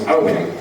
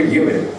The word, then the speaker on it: Eoin: It's Owen, but it's spelled Eoin. For some reason, and I haven't quite worked this out yet, it's been mistaken for Ewan.